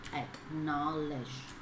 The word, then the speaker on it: acknowledge: Như vậy nhận định mình đang có từ được gọi là acknowledge. Alright, acknowledge. Cái từ knowledge người ta đọc là E mà đọc chính xác là âm Y trong tiếng Anh.